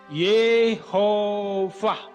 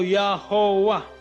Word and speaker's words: YHWH: Nah, jadi membacanya ada 2 tradisi, 2 kebiasaan. Ya, 2 kebiasaan. Gereja Purba dahulu kala 2000 tahun yang lalu terbiasa membaca YHWH ini dengan Yehovah, atau Yahowah. Kalau bahasa Bataknya Jehovah. Ya. Kemudian versi Yahudi membacanya Yahweh.